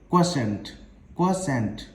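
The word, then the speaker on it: quotient: अच्छा, इसके प्रोनाउंसिएशन में भी लोगों को अक्सर कंफ्यूजन रहती है। This is pronounced as क्वोशेंट। Clear है ना?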